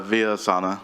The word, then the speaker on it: Villasana: Yes, Just let me hear you say it. yeah, it's Villasana. I was close. Exactly Okay. as it's spelled.